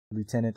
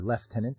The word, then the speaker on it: lieutenant: Arch enemies anime by bones updated with video lieutenant or left tenant as they pronounce in uh in Gada after cyberpunk 2077